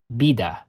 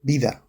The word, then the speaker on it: vida: The word for life is normally pronounced Vida. instead of vida, The word for friend is normally pronounced amigo, instead of.